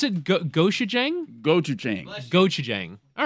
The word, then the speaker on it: gochujang: pronounce it? Gochujang? Gochujang.